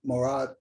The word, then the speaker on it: Mourad: That is it, Mourad? That's the proper pronunciation for your name? Yes, yes.